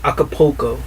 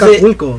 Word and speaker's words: Acapulco: Like if I say Acapulco, he doesn't say that. He says Acapulco.